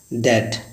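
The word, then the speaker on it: debt: ऐसे पहले हम लोग क्या पढ़ते थे डेप्ट, तो इसका अर्थ गलत होता है, इसे पढ़ेंगे डैट, जिसका अर्थ होता है कर्ज।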